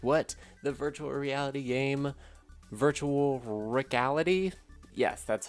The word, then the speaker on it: Virtual Rickality: The virtual reality game, Virtual Rickality? Yes, that's how you pronounce it.